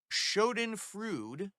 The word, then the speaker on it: schadenfreude: I realize now that wasting so much time following someone you don't like is a schadenfreude. That's how you pronounce it.